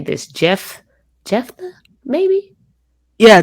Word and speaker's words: Jephthah: and then we're going to talk about, I don't know how to say this, Jephthah, maybe. Yeah, Jephthah.